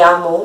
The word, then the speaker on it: Amoim: Se lê Amon, mas se escreve Amoim.